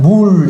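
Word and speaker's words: מול: 이 할례가 성경에 이제 우리 번역상 이제 할례라고 되어 있는데 실제로 그 히브리 원어상에 보면은 어떻게 읽냐면 물 이렇게 읽습니다. 이게 할례가 물입니다. 물. 발음상 물이라고 형용사예요.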